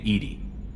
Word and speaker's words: EDI: airlock is a jar why are you named Edie Ed is the phonetic pronunciation of Eed the that is an acronym